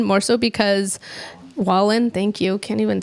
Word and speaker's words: Wallen: some way also I've never heard of Morgan whan more so because Wallen thank you can't even say his name Jeepers